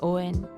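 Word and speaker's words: O'en: Okay, next here we have Owen. Now it sounds like Owen, so it's a pretty cute nickname if ever I do have a child named Owen. But it's actually Owen.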